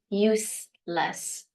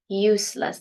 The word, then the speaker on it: useless: useless pay attention it it is not pronounced Z it is s useless useless the verb is use